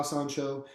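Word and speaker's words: sanshou: Yeah, San Da, San Show. Okay.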